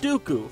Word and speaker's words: Dooku: the white and the rhymes with poopoo count dooku from the worst star